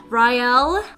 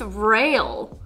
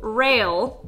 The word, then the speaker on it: Rael: Rael. Oh, really? Oh! It's pronounced rail. Okay, I guess I was saying that wrong the whole time. So, rail, I'm gonna have to